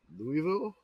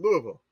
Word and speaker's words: Louisville: material for Dear Old Louisville Bureau of Kentucky you're putting too many con you're putting too many syllables in Louisville take your tongue glue it to the bottom of your mouth this thing I'm